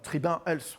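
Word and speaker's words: Tribun Health: CEO de tribune els voilà tribun els plutôt on va le prononcer à la française à vos côtés il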